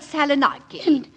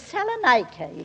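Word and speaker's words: Salonika: have a son at salaki and of course mine is fighting in France oh really Mrs Dary if you'll excuse me Mrs twiley the correct pronunciation is Salan I don't think and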